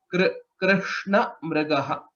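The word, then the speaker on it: कृष्णमृगः: Krishna Mrigaha. That's how it is pronounced.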